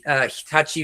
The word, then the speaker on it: Hitachi: so I feel like I have to pronounce it the right way. Hitachi which is obviously part